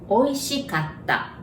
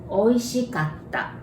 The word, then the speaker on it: おいしかった: And you can memorize it like oysters, oi, and shh. Cut, like cut. Ah, like ah. かった. おいしかった.